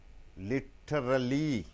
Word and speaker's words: literally: But how do you pronounce? Literally. Literally. Literally. Literally. Literally. Three beatings, three sounds. It's an adverb. Literally. Why do you use D instead of T? Because before T, I and E is coming.